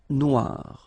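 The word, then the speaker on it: noire: feminine form but then you don't pronounce it okay so phonetically it is exactly the same no Noir Okay g don't pronounce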